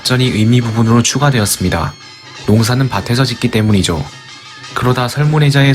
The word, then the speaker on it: 農: 농사 농은 어떻게 만들어졌을까 이 글자의 발음은 농 뜻은 농사 부수는 별 신 총 13획입니다 농사 농은 굽을 곡과 별 신 두 부분으로 분리할 수 있습니다.